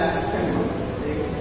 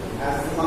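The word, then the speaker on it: asthma: Bronchial অ্যাস্থেমা, অনেকে বলে অ্যাস্থেমা, এটা কিন্তু কোন উচ্চারণ অ্যাজমা হবে, ঠিক আছে?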